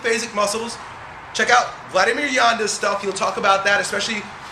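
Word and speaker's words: Janda: is what yand Vladimir Yanda check out some of his information he's a world renowned physical therapist last name is pronounced J NDA uh talks about the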